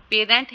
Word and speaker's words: parent: for example stress comes on the first syllable of the word parent and member as parent and मिम्बर respectively, ठीक है। ये first वाला अगर short vowel है, सॉरी सेकंड वाला शॉर्ट वावल है, तो स्ट्रेस किस पे होगा, फर्स्ट पे होगा, पेरेंट, ठीक है। पे स्ट्रेस होगा और इधर मिम पे स्ट्रेस होगा, ठीक है।